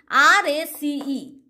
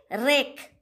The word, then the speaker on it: race: C, R-A-C-E. How we are pronouncing? Rake. Should I tell? No, not like this. What I am telling? Race. That means C sound is pronouncing as a S.